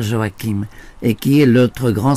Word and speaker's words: Joachim: moi dans la matière, Joachim Boufflet, n'est-ce pas ? Prononce Joachim, ça s'écrit Joachim, bon, mais je préfère Joachim, et qui est l'autre